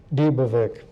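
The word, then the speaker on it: Dybevik: My family pronounces it Davik or Davik. And how do you say it, sir? Davik.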